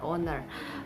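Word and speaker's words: honour: y owner h o n o u r owner uh our h o u r our h-e-i-r-i-a-r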